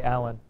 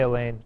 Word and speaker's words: Alan: Like- Alan, I would say Alan. All right. I wouldn't say Elaine.